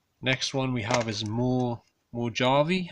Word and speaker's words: Mojave: Next one we have is Mojave, I think you pronounce it, like the Mojave Desert, I think.